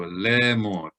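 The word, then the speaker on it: לאמר: So lemor. And remember, if there's no vowel symbol above or below it, that tells us to act as if the aleph is not there.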